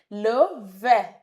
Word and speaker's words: le vert: Le vert. Le vert. Le vert. The T is silent.